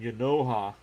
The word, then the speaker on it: Genao: And Yanoha. I'm going to have to remember that pronunciation. It's spelled Genao. But it's spelled that way, but that's not how it's pronounced.